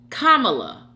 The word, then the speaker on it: Kamala: over here trying to say this one I Kamala kamla okay Kamala all right DM 1969 oble says ymy you